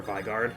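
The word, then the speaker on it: Vigarde: I've always said vard but yeah but like vigard actually makes a lot of sense now that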